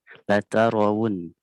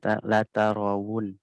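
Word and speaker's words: لترون: Latarawun. Tadi Afkar bacanya latarawun. Harusnya bukan rawun ya. Wu. Pakai waw. Latarawun. Wu ya. Bukan wawun. Wu. Tapi latarawun. Bukan wawun ya.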